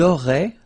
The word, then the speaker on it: auraient: Vous auriez, little link between the two, vous auriez, and then, ils auraient, little link, but then look, A-I-E-N-T like that, and you only pronounce E, like we had here.